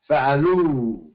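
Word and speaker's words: فعلوا: And you don't pronounce the aleph. Fa'alu, they masculine plural.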